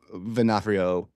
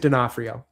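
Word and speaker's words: D'Onofrio: Yeah, I gotta say Vincent Venaf uh Venafhrio or Fenafhrio, how do you say his last name? Uh Vincent Denafhrio.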